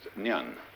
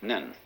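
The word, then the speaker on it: 念: They have a very interesting sign this it's pronounced nyun in Japanese nen and the top part of the character uh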